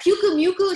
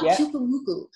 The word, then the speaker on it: Pukumuku: I was like, Pukumuku? She was like, no, Pukumuku. It's not like mucus. It's like Pukumuku. It's something Hawaiian-ish.